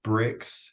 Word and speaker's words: Brix: what it is it's it's called bricks it's spelled b RX it's traditionally a sugar